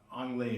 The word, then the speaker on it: Ang Lee: I would say something about Ang Lee, who I interviewed, and that's how you say his name in case anybody was wondering which way it was.